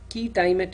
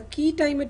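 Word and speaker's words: quia timet: and exporting junctions there is something called a key time at injunction it's spelled as q-u-i-a space t-i-m-e-t a key time at injunction is where no real damage has occurred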